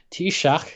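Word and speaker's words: Taoiseach: or which other government executive uh this is pronounced t-shock singular in gaelic it's spelled like this spelling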